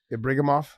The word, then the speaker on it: Ibragimov: Well, how do you say his last name? Ibragimov. Yeah. Ibragimov.